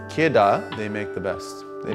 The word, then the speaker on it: Kidde: next to nothing now kitta ki dde pronounced kedah they make the best